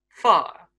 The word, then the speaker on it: fire: Shower. Shaw. Power. Par. Fire. Far.